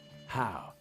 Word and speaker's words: Heo: It's pronounced Hao.